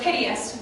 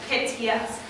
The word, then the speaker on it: piteous: So if we all say the word piteous, we say with 3 syllables, piteous. However, the way Shakespeare's written it into his meter, you have to say piteous. You have to give the last 2 syllables 1 beat.